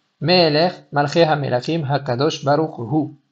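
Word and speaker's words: הוא: Meeler, Malcheha Melachim, Hakadosh Baruch Hu. Faire attention à bien prononcer le He de Hu pour ne pas l'avaler en disant Baruch Hu.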